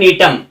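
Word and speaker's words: Gnetum: है साइकस अगला है टम य जी साइलेंट रहेगा टम जो है जिम्नोस्पर्म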